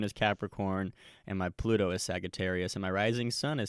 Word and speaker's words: Sagittarius: Sagittarius. Yes. That's nice. The hard G. Yes. Sagittarius. That's how I say it.